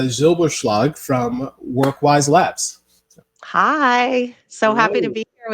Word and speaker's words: Zylbershlag: And then my last name is Zylbershlag.